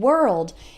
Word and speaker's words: world: work and world is they are spelled with an O but it doesn't really sound like an O that o R has an O sound same as in the word bird or heard that's the past tense